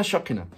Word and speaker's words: Pshokina: i n a and I didn't know whether to pronounce the P or leave the out so it's shakina so look let's go